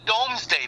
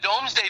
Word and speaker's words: Domesday: By the way, it's called the Domesday Book. Mm-hmm. And the Domesday Book, let's look it up.